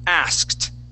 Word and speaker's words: asked: We're going to use that that ed ending will be a t sound. So we'll say asked.